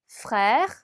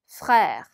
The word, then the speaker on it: frère: frère. 네, 그래서 이 단어는 지금 에르가 2번 들어가 있어서 발음하시기 조금 까다로울 수 있어요. 에르 발음에 유의하시면서 한번 다시 읽어볼게요. frère.